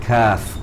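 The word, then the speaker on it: كاف: The proper way of pronunciation is Qaf and Kaf, because the end of it has Fa. You have the huruf Fa at the end of the spelling.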